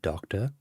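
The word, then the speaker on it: داکتر: say doctor is a doctor doctor just make sure you get that pronunciation right with that long ah sound so somebody who is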